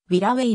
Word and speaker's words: Wirraway: a -1 側面図言語に忠実な発音をカタカナ表記としてはヴィラウェイがより近いありがとうございます